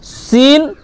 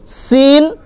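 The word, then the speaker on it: س: আর তারপর দেখেন সিন আর সদ, সিন, সদ, এগুলো উচ্চারণ প্রায় একই রকম, শুধু পুর মানে মোটা আর হচ্ছে বারিক পাতলা, এর পার্থক্য। সদ এটা পুর হবে, মোটা হবে, এবং সিন বারিক হবে, ঠিক আছে?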